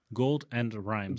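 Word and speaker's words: Gold'n Rhymes: It's spelled golden, like gold, and then like apostrophe N, and then rhymes. Gold and Rhymes.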